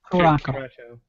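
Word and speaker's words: Curaçao: The Jedi ingredients are 1 ounce pineapple rum, 1 ounce coconut rum, a 0.5 ounce blue how do you pronounce that? Caraco.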